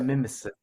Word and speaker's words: Mimesis: So, It's probably sir, Mimesis. That's what you said. Mimesis Labs. Yeah. So nemesis, mimesis, that kind of thing.